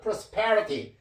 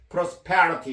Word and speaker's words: prosperity: 이건 prosperity. 여기에 강세가 있습니다. prosperity 이렇게.